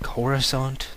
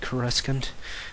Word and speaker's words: Coruscant: other pronunciations it just Coruscant every time I heard that in my ear it's like corusant not corant but yeah it's a